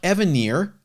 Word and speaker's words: Evanier: Mark Evanier and Steve Rude. There you go. It would be rude of me to mispronounce his name.